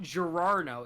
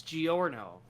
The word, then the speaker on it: Giorno: haven't watched JoJo either it is not gero it's Giorno that sounds even harder